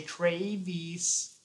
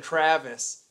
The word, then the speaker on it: Travis: the voice introducing me they'll mispronounce my name the people from they'll say Traves or something weird I can't even sound like them it's so messed up they say Travis and uh instead of Travis even like the other